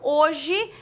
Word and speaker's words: hoje: produzidos para essa palavra a palavra hoje Diferentemente nós temos visualmente quatro letras uma duas três quatro mas na hora de pronunciar eu falo hoje veja que o h não tem som então nós temos quatro